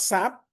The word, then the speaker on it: SAP: SAP is not a word. It's an abbreviation. So normally whenever it is an abbreviation we won't call it we will pron we won't pronounce it as a word right it is not sap it is sap it is sap again